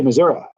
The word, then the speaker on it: Missouri: Say hello to Missouri for me. Or as they say, Missouri. That's how they say it there.